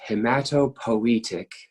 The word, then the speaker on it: hematopoietic: this again in a and P 2 it's pronounced hamato poetic I'll decipher for you after I write it